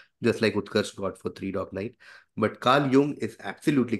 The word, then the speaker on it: Jung: It is Carl Jung as pronounced and Carl Jung as written. Okay. So Carl Jung, Swiss. And hence the pronunciation is Swiss slash German, which is Jung.